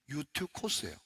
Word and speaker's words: 유두고: 하는 청년이 있었습니다 자 유두고 자 여러분이 유두고 그냥 원래 발음들 하면요 유튜 코스예요 유 유티가 아니고 유 유티 코스입니다 유코스 자 그런데 제가 오래전에